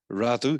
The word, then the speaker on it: Radoux: Radoux. As the French would say. Radoux. I was a French name.